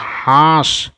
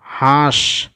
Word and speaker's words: হাঁস: একটু কি চন্দ্রবিন্দু আছে যদি চন্দ্রবিন্দু থাকে তাহলে আমরা একটু নাক দিয়ে মানে উচ্চারণটা আমরা যেন নাকের মাধ্যমে করি নাসিক যেরকম দেখো নাক